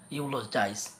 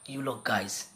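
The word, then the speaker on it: eulogize: So প্রথমে ধরে নাও, এখানে একটা এক্সাম্পল দেখতে পাচ্ছেন, একটা ওয়ার্ড দেওয়া আছে, ইউলোজাইজ। সো হয়তো অনেকে ভাবতেছে এটা উচ্চারণ ইউলোগাইজ।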